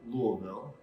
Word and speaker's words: Louisville: It helps if you feel like your tongue has swollen in your mouth a little bit. Okay. And you can get the Louisville out a little correctly.